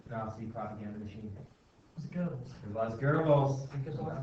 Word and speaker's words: Goebbels: really It's pronounced Goebbels, but it's G-O-E.